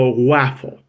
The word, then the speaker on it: Whaffle: this idea the idea it's called the waffle waffle or just waffle